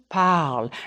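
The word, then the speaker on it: parlent: pal el pal o pal and yes the ent is silent to determine if you're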